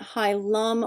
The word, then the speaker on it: hilum: is actually high ma h IL a but high Lum or high less high less are both the